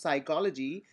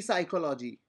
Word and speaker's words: psychology: 569 stands for P as P is silent when we pronounce psychology we do not say P psychology okay to peace silent